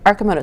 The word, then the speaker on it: Arcimoto: Arcimoto. So not Arcimoto, Arcimoto. Well, if you're Italians can pronounce it Arcimoto.